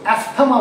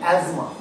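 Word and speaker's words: asthma: তাহলে এই জায়গাটা কি ইসমাস, ঠিক যেমন আমরা অনেকে ভুল বলি অ্যাস্থমা বলি, অ্যাকচুয়ালি কিন্তু এটা অ্যাস্থমা না, বানানটা অ্যাস্থমা কিন্তু উচ্চারণটা কি অ্যাজমা, ঠিক সেরকম এটার বানানটা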